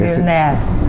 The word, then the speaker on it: Villeneuve: Pronuncia tu apellido porque... Villeneuve.